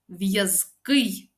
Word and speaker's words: в'язкий: Зверніть увагу на винятки в'язкий ба й ковзкий плазкий боязкий жазкий різкий До речі наголос у цих прикметниках падає на останній склад насправді у цих прикметниках